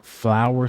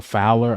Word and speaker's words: Fowler: But I heard Jeremy Flower say something, or Fowler. I always say his last name wrong.